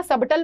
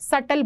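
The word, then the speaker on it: subtle: तब्बू जो है न सबटल मत बोलना भी जो है वह साइलेंट होता है बी जो है वह साइलेंट वर्ड है सटल बोलते हैं अ यानी कि हल्का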